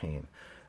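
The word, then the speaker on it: féin: It's pronounced as if it has an H. So hain, typically.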